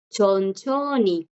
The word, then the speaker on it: 천천히: Igual ven aquí, chicas, chicos, que la J acá no suena porque adelante tiene la consonante. Segundo caso de esta J, que aunque no esté como bachim, si delante trae una consonante, ya no suena.